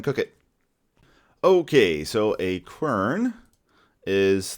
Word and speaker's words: quern: the recipe for the quern. I'm gonna make a quern, and I did look up the pronunciation. It's Quern, and it is quern. It's not kern, as far as I can tell.